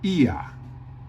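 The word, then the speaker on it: ía: So we pronounce it ia.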